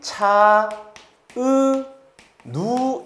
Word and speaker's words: 차은우: 발음하면 차, 으, 누 이렇게 되고 모음의 개수를 세보겠습니다.